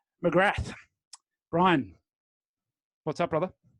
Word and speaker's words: McGrath: Now I'm going to give you the credit of using the American pronunciation. Mcgrath.